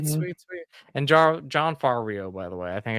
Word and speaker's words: Favreau: And John Favreau, by the way. I think I pronounced his last name wrong. Favreau.